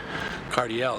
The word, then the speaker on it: Cardiel: how you mean like if you say it's cardio ledge it's like you don't say it like Josh Kayla sledge no you don't say that you say Cardiel cuz that's all I